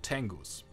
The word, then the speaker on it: Tengu: The monsters we are killing are so-called Tengus. Tengu, which are the correct pronunciation, tend to drop better equipment than other monsters.